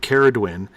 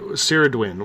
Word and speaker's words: Ceridwen: right at the beginning when you said kharid win she said ceridwen Dehradun sarod win which is the proper pronunciation and right at the